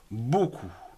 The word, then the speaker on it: beaucoup: gens télé2 gentil voyons des mots ou ne prononce pas le p finale comme par exemple beaucoup d eux a eu beau c'est aux huées